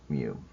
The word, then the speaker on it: mu: And mu is, like we said, pronounced mu.